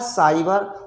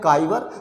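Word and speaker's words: cyber: और जिसको मान लीजिए उच्चारण का ज्ञान नहीं है, अब यहाँ पर लिखा है सेंचुरी, कोई इसको पढ़े केंचुरी, यहाँ है साइबर, कुछ लोग इसको पढ़ जाते हैं काइबर।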